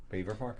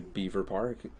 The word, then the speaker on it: Belvoir Park: I just recently found out there's a place near me called, well, it's spelled Belvoir Park. Beaver Park. It's no, there's an L. The L needs to be respected.